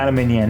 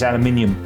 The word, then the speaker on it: aluminium: Yeah, but it's not aluminium, is it? It's aluminium. And the Americans don't pronounce it right when they spell it different than they. Aluminum. Yeah, aluminum.